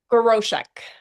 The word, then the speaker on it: Groshek: uh Kim Grochek. Okay. Kim Grosk and we are excited to hear her story and Kim just inspire all of us.